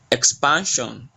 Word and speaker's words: expansion: Expansion, expansion. So the pan is more stressed.